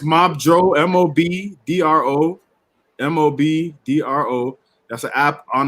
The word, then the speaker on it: Mobdro: a Fire Stick, there is an app called Modro on there that has all the. How do you spell it? Is it Mobdro? Is it Mobdro or Modro? Oh, it's Mobdro.